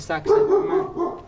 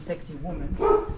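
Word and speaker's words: Sacsayhuamán: mountain on the back it's called Saxon some people call it sexy woman which is hard to pronounce but where we are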